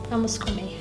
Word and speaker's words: Vamos comer: Vamos comer.